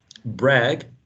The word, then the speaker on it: brag: crappy and then um bragg bragg which is in the next paragraph bragg it's also uh pronounced with a with an a trap brag but dang right brag and dang they need to rhyme um heard that's another